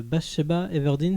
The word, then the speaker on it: Bathsheba Everdeen: Et cette fois, donc c'est l'histoire de Bathsheba Everdeen, c'est ça ? Absolument, il a bien prononcé.